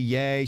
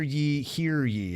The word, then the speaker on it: Ye: his name to Y-E, yay. She said, it's how about hear ye is how you pronounce ye.